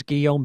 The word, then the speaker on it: Guillaume: well my guest is guillen bignon and um if you don't speak french that would be which i don't but i do know how to say his name it's like william in french did i get that